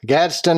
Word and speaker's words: Gadsden: Holiday host in Gadsden Gadsden say it right Gadsden Alabama you said it correctly sir okay that's that